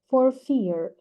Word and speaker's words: for fear: phrase for fear of the first R is silent for fear because it is followed by a consonant and the second is pronounced because it is followed by vowel for fear for fear for fear